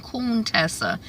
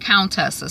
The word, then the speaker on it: Contessa: I thought, but I think she was saying Coon Tessa instead of Countessa. So that's kind of shady. She mispronouncing the woman's name.